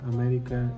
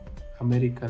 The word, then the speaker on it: América: Se acentúan en la antepenúltima sílaba y siempre llevan tilde. Por ejemplo, música, América y próximo. Música en la U, América la E y próximo la U.